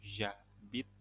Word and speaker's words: j'habite: Nah, j'habite a, bacanya j'habite a. H-nya nggak dibaca seperti biasa, langsung jadi j'habite.